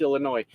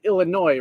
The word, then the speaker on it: Illinois: me when people mispronounce Illinois I said Illinois right Illinois I never say the S I was told the S is silent I was told the